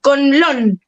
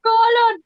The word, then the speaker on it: Conlon: También mí me pasó toda la vida, jamás lo pronuncian bien mi apellido. Conlon. Ay, es que la Sí. M del medio te traba, es Yo como... le decía colon.